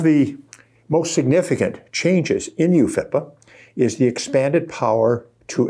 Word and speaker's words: UFIPA: Its acronym, UFIPA, usually pronounced UFIPA, means Uniform Fiduciary.